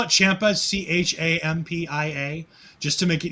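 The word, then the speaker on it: Ciampa: i could call him tommy i used to spell it champa c-h-a-m-p-i-a just to make it easier for myself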